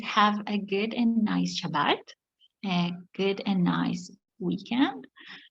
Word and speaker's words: Shabbat: This is how we pronounce it, Shabbat. You can say Sabbath, or you will find a way to say it correctly, I'm sure, but it's pronounced Shabbat.